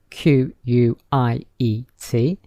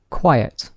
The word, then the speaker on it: quiet: have a similar spelling q u i e t q u i t e very similar but they are pronounced differently so listen to the pronunciation quiet quiet so there are two syllables quiet now listen to